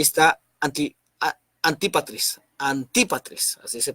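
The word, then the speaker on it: Antípatris: la izquierda ahí está aquí a anti patrice anti para tres así se pronuncia anti para tres esta idea y era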